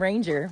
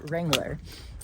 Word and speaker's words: Wrangler: Okay, I was just talking to Wrangler because I've been saying his name wrong. I was calling him Ranger, but his name is Wrangler.